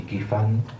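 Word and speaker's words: Ky Fan: texto de 1946, que es el de Frechet, se escribe Frechet y Qi-Fan, son dos autores, el segundo chino, Qi-Fan, K-Y-F-A-N, separados, Frechet y Qi-Fan.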